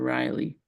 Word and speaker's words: Raleigh: download it and see is it Raleigh yeah r a l e i g h okay North Carol I thought you said Riley and I'm like I can't find anywhere called Riley yeah that's how you say it it's Ry temperature